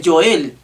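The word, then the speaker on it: Yoel: muchos eruditos tal vez la pronunciación más exacta sería el yo el que en el hebreo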